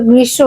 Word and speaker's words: গ্রীষ্ম: মাস মিলে হয় গ্রীষ্মৃত দেখো গৃসরিত হয় গ্রীষ্ম বলতেছো বানানের জন্য কিন্তু গ্রীশব উচ্চারণ গয়নিগিনি কি